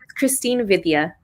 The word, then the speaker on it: Kristine Vidya: And how do you say Kristine? Is it, how do you say it? Kristine Vidya. Vidya.